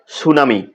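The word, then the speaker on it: tsunami: তারপর বানান করবো আমরা সুনামি টি এস ইউ এন এম আই সুনামি বানানের ক্ষেত্রে আমরা টি উজ্জ্ব রাখবো তাহলে হচ্ছে এস ইউ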